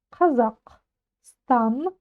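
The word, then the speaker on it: Қазақстан: букву К с хвостиком попробуем чуть-чуть откашляться за Казахстан Казахстан Казахстан ударение на последний слог Казахстан Да дальше ран рамн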